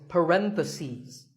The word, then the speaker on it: parentheses: If you're talking about both, the plural is parentheses. The last syllable becomes C's. Parentheses.